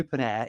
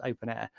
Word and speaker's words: openEHR: I say OpenAir, it's written OpenEHR, but it's pronounced OpenAir.